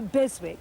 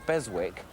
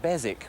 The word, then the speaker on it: Beswick: And when you're hunting for Beswick, pronounce it Bezic, which is totally wrong, and then everybody will think you don't know what you're talking about.